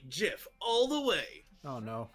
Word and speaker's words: GIF: with her first lesson pronounce memes and GIF with a hard G I'm with mayor on this one GIF is pronounced like Jif all the way oh